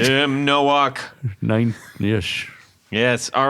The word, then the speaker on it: Tim Nowak: I think it's Tim Nowak. Well, that's right. I think We're going to say it right. You said it right. Tim Nowak.